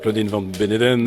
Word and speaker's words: Claudine Van Beneden: bonsoir, Claudine Van Beneden. Bonsoir. Je prononce bien votre nom?